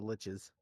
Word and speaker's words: liches: of Undead Mage the liches yeah rhymes with got to remember that okay MH rhymes with